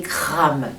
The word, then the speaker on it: Kram: Et le mantra qui est associé est Kram, K-R-A-M. Toujours pareil, n'hésitez pas à prononcer, à chanter cette syllabe Kram sur la note du La.